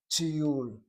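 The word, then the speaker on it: טיול: And so you have a short vowel, CVC, closed by the W of that yud. The second yud starts the next syllable, which has the long vowel, tiyul.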